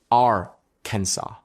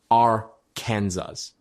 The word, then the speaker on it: Arkansas: Arkansas Code preserves an 1881 resolution declaring the state name should have 3 syllables, a silent final S, and what the text calls the Italian sound of the A. In other words, Arkansas, not Arkansas.